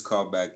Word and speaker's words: Cole-Behk: but what what basically which is this callback is c-o-l-e that is the call and the new back is b-e-h-k so how i've always